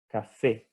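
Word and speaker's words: קפה: Então, essa é uma outra dica importante em relação à pronúncia em hebraico, que a gente procura sempre deixar as vogais fechadas, né?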